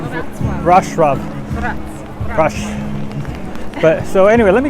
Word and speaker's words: Wrocław: And what's that little city I like I always want to call Warclaw, honey? How do you say it? Wrocław.